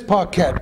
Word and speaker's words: Paquette: Look at this Paquette. P-A-W-K-E-T. Right. And Spell it as you pronounce it.